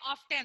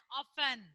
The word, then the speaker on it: often: Most of you, the students, they'll call this as often, often. OF of T and 10 often. No. T is a sleeping letter. It's a silent letter. So you have to call it as often.